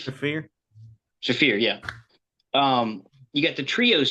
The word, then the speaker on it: Shafir: The Sharif? fear. Shafir, yeah.